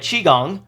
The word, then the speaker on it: qigong: the ultimate qigong skill thank you to all comments telling me i'm dumb and pronouncing it wrong ultimate qigong that lowers physical defense